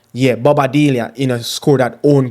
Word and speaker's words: Balbuena: um properly, Yeah, let me get his name pronounced properly for you guys. Um, his name is Balbuena. Yeah, Balbuena you know, scored that own goal.